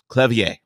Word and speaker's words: Clevier: Clevier is how you would say my name.